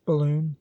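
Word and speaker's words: Balonne: beginning of April, when the Ballon, pronounced balloon, was sighted.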